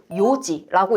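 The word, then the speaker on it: 4時: 그래서 이런 규칙 체크해 주시고, 자, 예외적으로 우리 시간 1시, 2시, 3시, 4시라고 할 때 4시는요 용에서 음을 빼고 요지라고 읽기도 해요.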